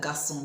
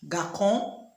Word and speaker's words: garçon: Without the cedilla, which is beneath the C, what do you think that garçon would sound like? Garkon?